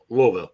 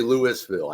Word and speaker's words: Louisville: the first one right Louisville yeah no it's as long as you don't say Louisville I think most people yeah the S isn't there right the S is is